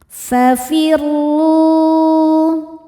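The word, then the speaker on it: فَفِرُّوا: Huruf ro dibaca secara tafkhim karena berharakat di atas yaitu harakat dommah. Cara bacanya ro dibaca dengan tebal. Fafirru.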